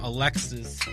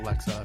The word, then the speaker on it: Alexa: some point siri or alexis are going i know i'm like looking at you you said it wrong okay it doesn't matter okay alexa not alexis or yeah alexis is